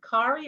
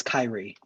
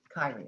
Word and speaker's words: Kyrie: Is it Kari or Kiri? How do I pronounce that? Hi, good morning. It's Kyrie. Kyrie, okay.